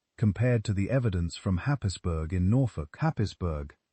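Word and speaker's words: Happisburgh: But even those are relative newcomers compared to the evidence from Hapisburg in Norfolk. Hapisburg, pronounced Hazbbor, by those who grew up near it, is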